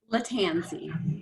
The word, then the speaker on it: Lattanzi: we have the honor of having pronounce your name for me latanzi the tanzi so i don't mispronounce who is